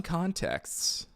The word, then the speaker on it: context: pronounce context Contex okay to pronounce context correctly say context with emphasis on the first con and a soft T at the end con text essentially sounding like con is in cone followed by text is in textbook but